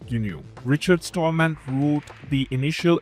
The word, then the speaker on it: GNU: It is pronounced in a single syllable which is known as GNU.